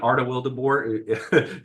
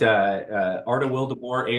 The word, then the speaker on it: Arta Wildeboer: Arta Wildeboer. Sounds just like it's spelled, or spelled just like it sounds, I should say. But Arta Wildeboer, ARTA is my first name.